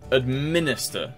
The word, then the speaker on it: administer: Administer, second syllable.